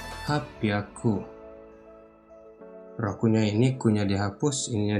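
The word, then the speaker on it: はっぴゃく: Dan di sini saya mau sebutkan 8 ditambah bilangannya 100 penyebutannya, jadi hachi hyaku, bukan seperti itu, tapi hachi-nya ini dihapus, ininya dirubah menjadi pyaku, jadi hapyaku.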